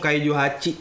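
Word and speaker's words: Kaiju Hachi: kita jelasin dulu nih Kaiju bacanya Kaiju apa Kaiju ha kaij Kaiju hach mereka ngomongnya hach sih Kaiju hach Kaiju hach Kaiju Del lah Kaiju Del Kaiju Del benar Kaiju Del mereka ngomongnya Kaiju Del Kaiju Del apa Kaiju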